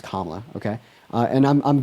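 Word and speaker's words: Kamala: I'm voting for Kla Harris because also her name is pronounced Kla.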